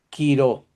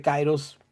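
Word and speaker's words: καιρός: Y momento, el quiró. El quiró es el momento. Mm. Ahora, si usted dice cairos, está bien, no hay problema.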